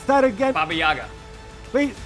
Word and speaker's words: Baba Yaga: How do you pronounce that again? Baba Yaga. Wait, Bayaga, whatever. Baba Yaga, yep.